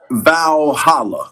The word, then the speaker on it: Valhalla: Valhalla. I think you pronounce it vowhala.